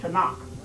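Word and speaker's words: Tanakh: being and they got a book called it to knock you get them right there in Barnes and Nobles and borders but to knock it's it's pronounced t-a-k a-n-e to knock just put your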